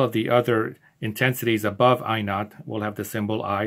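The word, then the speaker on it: I₀: is i sub zero it's pronounced i not and the word not zero in the old english i not in old english zero used to be called not written like this in old english so instead of we could call this i sub zero often in physics this is simply pronounced i not and i naught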